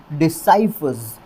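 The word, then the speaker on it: decipherers: Pronunciation क्या बन जाएगा, डिसाइफर्स। डिसाइफर्स, क्योंकि जो S लगेगा वो ज़ की साउंड देगा यहाँ पर, तो डिसाइफर्स। और जो वर्ड स्ट्रेस की पोजीशन है वो स वाली साउंड के ऊपर ही रहेगी।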